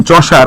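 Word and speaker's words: Chaucer: প্রোনাউন্সিয়েশনটা হবে এরকম, চসার, হ্যাঁ, দন্তেশ্ব আকারে আ, চ, দন্তেশ্ব আকারে আর, চসার। অনেকে কসার বলে, হ্যাঁ, এটা কসার না ভাই, হ্যাঁ, এটা চসার। প্রোনাউন্সিয়েশনটা হচ্ছে চসার।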